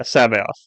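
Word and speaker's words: C'baoth: it with a C I hate English so Sao is spelled c apostrophe b a o t h i don't understand so yeah Sab off so interesting thing with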